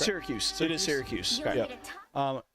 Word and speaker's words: Syracuse: Syracuse.